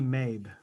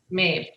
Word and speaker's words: Mabe: We have, how do you pronounce the last name? That would be Mabe. Mabe.